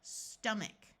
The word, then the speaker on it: stomach: And this word, both the O and the A will have the muffled schwa sound of stomach.